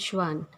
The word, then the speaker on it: Schwann: The pronunciation is Schleiden and Schwann.